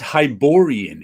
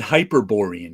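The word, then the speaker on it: Hyborian: just like it's it's hiborian age right I always said hyper borean age I just added extra and extra syllable in there all piping is looked like hyper but there was no ER hiborian did come out in 1982.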